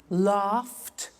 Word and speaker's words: laughed: look at that watched danced eliminate the e pronounce the t danced laughed washed and walked okay now the temptation is